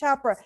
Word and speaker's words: Chopra: Chopra? Yeah. Is that how you say it? Chopra.